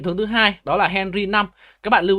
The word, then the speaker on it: Henry V: Các bạn lưu ý là đây là Henry V nhưng mà đáng ra các bạn phải đọc là Henry 5 nhé, tại vì 5 ở đây là số La Mã.